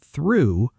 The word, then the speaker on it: through: Though rhymes with go, but through rhymes with blue, and tough rhymes with stuff.